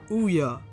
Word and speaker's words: Ouya: It's about the newest console to hit our market, which is the Ouya. It's supposed to be pronounced like Booyah, but without the B.